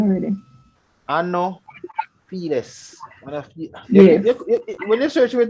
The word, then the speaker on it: Anopheles: All right, so it is spelled Anopheles. Anopheles. All right. Remember, PH is sound like F.